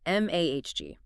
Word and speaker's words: magi: At the top were the priests, later known as the magi, pronounced m ahg.